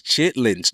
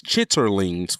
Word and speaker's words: chitterlings: Number one is chitlings. Chitterlings, for the people who want me to say it properly, chitterlings.